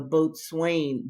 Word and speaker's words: boatswain: It's really the boatswain, but it's pronounced boatswain.